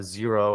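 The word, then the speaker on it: Xero: basically QuickBooks Online there's other companies too uh zero I think that's spelled x e r o is another one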